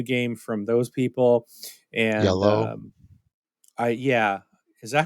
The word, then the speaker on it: IELLO: Yellow. Yeah. Yellow. Say I it always say I yellow. like Danny. Danny uh, Aiello, yeah. yeah, it's yellow. Think of it like Yellow. pronounce it like the color.